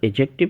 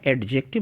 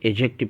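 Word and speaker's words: adjective: یا صفت کہتے ہیں۔ یہاں پر ایجیکٹو کے تلفظ پر دھیان رہے کہ یہاں پر ڈی نہیں پڑھا جائے گا، ایڈجیکٹو نہیں پڑھیں گے، اسے ایجیکٹو پڑھیں گے۔ تو گڈ بوائے، اسمال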